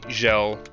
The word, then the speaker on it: Sjellokat: You can call me Gel for short, if that's easier. Gel? All right. Gel. Sounds good. Yeah. S-J is pronounced like Jacques, like the J in Jacques.